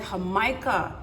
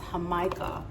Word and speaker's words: Jamaica: now they call it hamikah here in Mexico it's spelled like Jamaica but it's pronounced hamikah and then once we